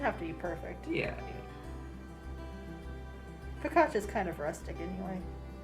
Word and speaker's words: focaccia: Focaccia is kind of rustic anyway. That's how it's pronounced.